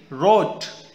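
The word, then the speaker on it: wrote: पढ़ेंगे आर ऐसे ही रोट right रोट रिटन right तो इसके अंदर डब्लू साइलेंट है हमने इसको व से स्टार्ट ना करके र आर से स्टार्ट किया रोट ऐसे ही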